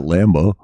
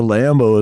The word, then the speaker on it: Lambeau: Bank Stadium is not Lambeau. The Packers. Oh, I know what you're saying. Lambeau Field. Yeah. That's their rival. So, like, even though it's spelled differently, they're like, yeah, but the Lambo is my god Lambo dad.